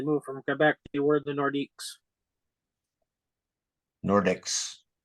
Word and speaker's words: Nordiques: from Quebec toward the nordiques nordics it's like how do you say it again it it's um it's like saying North but in French Nordic I was calling